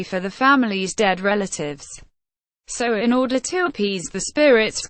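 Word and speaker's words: Samhain: with the ancient Celtic festivals sound pronounced soin celebrated at the end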